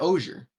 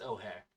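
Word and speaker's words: Ojer: Is it O'Hare or is it Osier? It's O'Hare. O'Hare. Oh, neato. You don't pronounce J's in Spanish.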